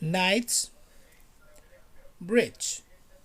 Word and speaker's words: Knightsbridge: time south kensington knightsbridge knights bridge repeat after me nights bridge nights rich night bridge